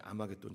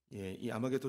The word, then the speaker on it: 아마겟돈: 다시 모읍니다 이것이 이제 아마겟돈 전쟁이죠 마지막 하나님을 대적하는 모든 세력과 예수 그리스도가 한판 붙는 그 전쟁이 아마겟돈 전쟁입니다 아마겟돈은 하르 무기토 히브리어로 하르라는 단어와 무기 또라는 단어가 합쳐진 나라입니다 하르부기또를 헬라어식으로 발음하면 아마겟돈입니다 하루 무기토의 뜻이 뭐냐면